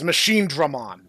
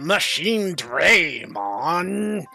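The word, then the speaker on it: Machinedramon: Also, to whoever, dubbed Next Order, you're all giving it your all, but it's Machine Dramon, not Machine Draymon, which every single actor pronounces it as.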